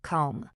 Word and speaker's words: comb: The B at the end is completely invisible to your ears. It is pronounced comb.